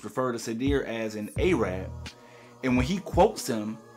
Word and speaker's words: Arab: Now, someone from the Arab community let me know. I'm not sure if that pronunciation Arab is a slur, but I do know that the proper pronunciation is Arab.